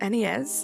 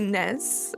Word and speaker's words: NES: NES. I want to say NEZ and then I spelled NES, but I said it wrong.